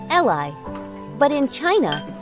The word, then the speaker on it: Qi: true pronunciation in chinese for most americans the closest would be chi as in chin so put it all